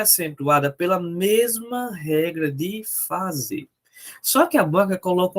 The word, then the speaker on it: fazer: E aí, qual é a sílaba tônica de fazer? Separa aí, fica fazer. Fazer. Opa, tá aqui, professor. É verdade. É a última sílaba, logo essa palavra é uma oxítona.